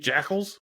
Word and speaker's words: Jackal: call them jacals yeah jaal what it say I know it's Jackal but I like saying jaal I was like I've